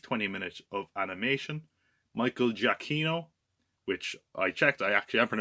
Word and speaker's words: Giacchino: Michael Giacchino, which I checked, I actually am pronouncing his name right.